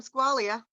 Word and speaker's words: Squailia: Squailia, you want to go, or am I saying your name wrong? Yeah, Squailia.